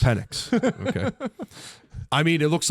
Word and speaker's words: Penix: Penix. Penix.